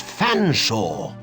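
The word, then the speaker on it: Featherstonehaugh: I don't believe you cannot pronounce my name properly. It's Fanshaw, but it it's a talking cat.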